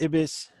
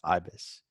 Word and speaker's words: Ibis: you that I feel like it should be pronounced Ibis, but it's not Ibis. There was a phonetic pronunciation in one of the issues or a couple of the issues, and it is, in fact, Ibis.